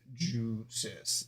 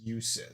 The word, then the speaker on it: Jusis: The name uses a soft J sound, often rendered in English as Jusis, rather than the Japanese Usis style, focusing on clear phonetic pronunciation. Yeah, it's Jusis. Okay. Like juice, and then is at the end.